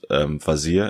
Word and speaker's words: Vazire: It said, in 2018, for instance, Vazire, is that actually how you pronounce it? Vazire? Yeah.